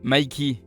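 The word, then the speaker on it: Mikey: du boss du gang j'ai nommé micky et non ça ne se prononce pas mickey oh les gars c'est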